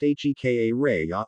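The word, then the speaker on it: Jicarilla: which is the main town of the Jigarillo pronounced HKA Raya Apache Reservation Nation.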